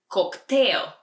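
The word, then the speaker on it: коктейл: we order a cocktail cocktail it's almost the same but just a little different pronunciation in Bulgarian cocktail and if you're spying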